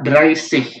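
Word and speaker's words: dreißig: Oke, yang ini cara bacanya adalah ya seperti yang itu tadi, dry, terus ya pelafalannya masih sama, dry sih, oke? Dry sih, coba ya seperti yang Swansea ini ya, kita melafalkannya dry sih.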